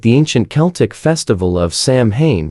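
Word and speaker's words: Samhain: years originating with the ancient cel Festival of Sam Hayne pronounced sa in celebrated on the night of October 31 Sam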